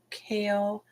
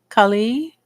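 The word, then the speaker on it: Kali: I found that certain aspects do require like the Sanskrit word kale is actually pronounced Chali Khali.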